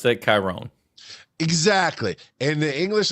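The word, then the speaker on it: Kyrone: I would pronounce that chirone exactly and the English like k y r o n e like Tyrone but with a K and in the English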